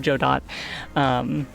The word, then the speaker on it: Godot: As I continue to corrupt new users with my proper pronunciation of Godot.